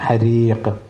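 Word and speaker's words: حريق: ഹരീഖ് എന്നാണ്, ഹ ആണ്, റായിന് കിസറാണ്. ഹരീഖ് നിർത്തുമ്പം നീട്ടി നിർത്താം. ഹരീഖ് നിർത്തുമ്പോൾ ഖാഫിന് ഹുറൂഫുൽ ഖൽഖൽ ആയതുകൊണ്ട് എന്ത് ചെയ്യണം, പിന്നെ ഖ് എന്നുള്ള ഉച്ചാരണം വരും. ഹരീഖ്.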